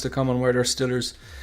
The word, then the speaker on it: Steelers: pit Pittsburgh I think it's supposed to be pronounced Steelers but I believe a real Pittsburghian would say Pittford's how are them how about them Stillers I think uh but they um I think